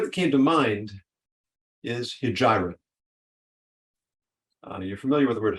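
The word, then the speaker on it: Hegira: How do you spell that, Rabbi? H-E-G-I-R-A. Hijira.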